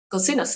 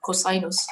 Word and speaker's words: COSINUS: We pronounce it in the German way.